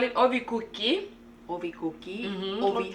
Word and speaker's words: ovikuki: people, we call it ovikuki. Ovikuki. Mm-hmm. Ovi. How do you spell that? Ovikuki. With the O. Oh, ovikuki. Yeah. Is it I like feel cookie, like like cookies, but ovi?